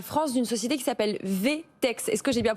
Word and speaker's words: VTEX: Vous êtes le directeur général France d'une société qui s'appelle VTEX. Est-ce que j'ai bien prononcé? VTEX, voilà.